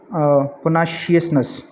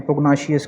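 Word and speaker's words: pugnaciousness: attitude ठीक है और पोनाशियसनेस ठीक है और पोनासिटी ठीक है यहां पे जी भी जो है वो साइलेंट है कुछ प्रोनाउंस कर कर लेते हैं पोग्नोशियस कर लेते हैं पोग्नासिटी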